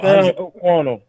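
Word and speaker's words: Sam Okuayinonu: It's Sam O'Quano.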